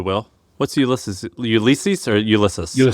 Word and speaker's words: Ulysses: Ulysses or Ulysses?